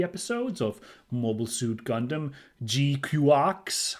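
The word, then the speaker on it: GQuuuuuuX: GQX, I think, is how they I'm trying to pay attention to how they pronounce it, and I think that's how it is. Of course, the ridiculous spelling of it, which is G, Q, six letter U's, and X, makes me want to pronounce it the Gundam GQ, but no one actually calls it that in the show.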